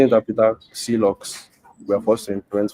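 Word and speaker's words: clox: I pronounce the name C locks, but you can say it clocks. I say it clocks or even clock, where you pronounce the X like the Greeks do it if it makes you happy.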